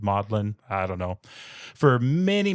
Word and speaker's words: Magdalen: It's spelled Magdalen, but apparently they pronounce it Magdalen.